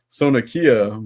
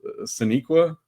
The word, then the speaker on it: Saniqua: I said Sonakia Martin Green, and he corrects me. Oh, Saniqua.